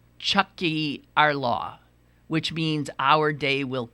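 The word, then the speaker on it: Tiocfaidh ár lá: The Irish Catholics use slogans like, and I can't pronounce this word, uh, pronounced Chucky our law, which means our day will come.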